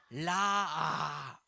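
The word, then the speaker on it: ראה: 라메트 알레프 해트. 그래서 이거를 이거는 아 발음이 나는 모음이에요. 그래서라 뭐라고요? 라아 따라해 보세요.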